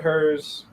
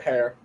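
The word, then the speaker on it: Herr's: uned brand of Chip oh yeah most people pronounce it hers I've heard some people pronounce it hers most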